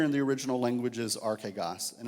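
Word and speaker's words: ἀρχηγός: The word here in the original language is archegos, and it's a word that's not used a lot in the New Testament. La palabra en griega se dice, how do you say that? Archegos. Archegas.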